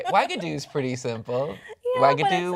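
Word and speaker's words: Uagadou: Wagadoo's pretty simple. Yeah, but Wagadoo, it's- Wagadone. Wagadoo. It sounds like Xanadu.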